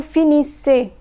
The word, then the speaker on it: finissez: EZ is pronounced as A. Vous finissez.